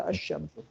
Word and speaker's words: الشمس: Place in writing الشمس، لکھنے میں کوئی چینج نہیں ہوگا، پڑھنے میں چینج ہو جائے گا، لکھنے میں تو نظر آئے گا لیکن پڑھنے میں کیا ہو جائے گا، الشمس، لام نہیں پڑھا جائے گا۔ The assimilation is indicated